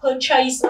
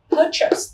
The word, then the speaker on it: purchase: Khi em nhìn cái từ này thường chúng ta đọc là purchase, nhưng ở đây chúng ta không đọc là chase mà chúng ta đọc là purchase. Đấy mới là đúng cách purchase.